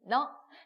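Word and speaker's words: 呢: 니, 너. 자, ne 나왔어요. 그죠? 이가 내가 아니라는 거. 그죠? ne 어떻게 읽는다고요? 너라고 읽어줘야죠. 이가 어니까. 그래서 너, 니, 너 경성이니까 가볍게 읽어주시면 돼요.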